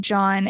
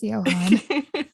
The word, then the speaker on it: Johann: No, I said John and I was pronouncing it John until you said Johann. And then I looked at my notes and I was like, oh shit, it is Johann.